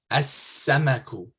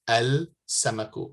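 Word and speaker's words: السمك: So samakatun or samakun, fish, you say as-samaku. As-samaku, not al-samaku, because the sin here is from the solar or sun letters.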